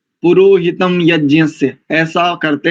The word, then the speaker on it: यज्ञ: और ये यज्ञ, प्रायः अपने लोग भी इसका यज्ञ ऐसा उच्चारण करते हैं, जैसे 2 जकार मिला करके, तो ये सानुनासिक वर्ण है, अनुनासिक प्रयोग है इसमें, यज्ञ ऐसा।